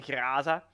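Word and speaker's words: Groza: The Graza. That's how you pronounce it in Russian, because it's a Russian-made weapon.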